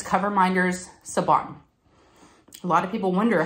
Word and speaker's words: Siobhan: shop and it's coverminders Saban a lot of people wonder how you say her name it's with a b as in boy not a v so sabon I know it's a